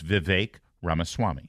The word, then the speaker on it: Vivek Ramaswamy: But we're paid to go on the air and call it's Vivek Ramaswamy. Yeah. Think of cake. Vivek like cake.